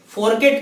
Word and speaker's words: fourchette: फोरकेट का स्पेलिंग लिखेंगे FOURCHETTE, फोरकेट, ठीक है, उसे हम क्या कहते हैं, फोरकेट कहते हैं, ठीक है।